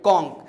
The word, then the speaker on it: conch: Okay, तो जब भी आपको CH का साउंड क से, जैसे स्टोमच नहीं स्टोमक, मोनार्च नहीं मोनार्क, कॉन्च नहीं कॉन्क, तो इनका प्लूरल आप सिर्फ और सिर्फ एस लगा के बनाइएगा।